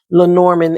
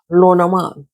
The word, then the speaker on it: Lenormand: of learning how to read Len Norman as like as we call them here in America, Len Norman cards. I learned that these cards are created by a French person. So, it should be pronounced Loran.